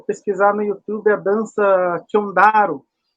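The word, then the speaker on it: Xondaro: Aí, se vocês puderem, se vocês conseguirem aí pesquisar no YouTube a dança Chondaro. Chondaro, o nome da dança. Se escreve com X-O, começo. X-O, Chondaro. Começa com X-O, Chondaro.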